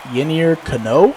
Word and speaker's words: Yennier Cano: Yennier Cano, I believe is how you say his name, will be on in the 9th inning to face Jonah Heim with 2 runners on and nobody out.